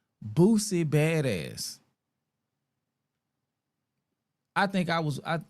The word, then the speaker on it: Boosie: But your name is Booy. Not Boozy. Not Bootsy, none of that.